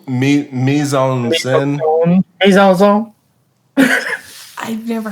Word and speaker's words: mise en scène: I think I mispronounced a French word, and I'm not going to attempt it again. Oh, mise en scène.